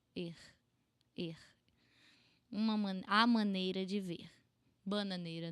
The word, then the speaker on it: ver: most parts of Brazil, this ver is going to sound more like an air going out of your throat. Er.